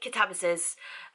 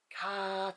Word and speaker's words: Katabasis: I know some say Katabasis, and I think the pronunciation can be both. But I say Katabasis, unless I forget, then it's Katabasis.